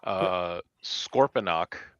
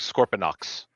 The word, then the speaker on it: Scorponok: Sometimes it sounds like Scorponox, with an X at the end.